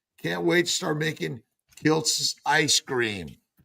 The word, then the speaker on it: Kiltz: So I added a T so they pronounced it properly, which Kilz is Kilts. But now they call me Dr. Klitz.